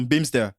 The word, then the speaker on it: Bimstr: Ça fait américain quand même, non? Bimster. Oui, Bimster, dans la prononciation.